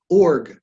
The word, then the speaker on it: org: at hypnosis dot org org like rhymes with the Borg okay and so Tasha